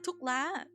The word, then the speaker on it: thuốc lá: Um oh, thuốc lá thuốc lá.